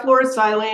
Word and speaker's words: fluorosilane: take your photoactive nanoparticles and the fluorosilane, is that pronounced properly? Yeah, fluorosilane or fluorocarbons.